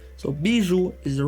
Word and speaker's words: Bijoux: So, it's supposed to be BU residence, not BJ. So, Biju is the right way to pronounce it and it's actually French for jewel.